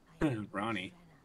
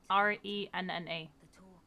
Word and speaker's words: Renna: Ronnie. Renna. How's this spelled? Renna. R-E-N-N-A.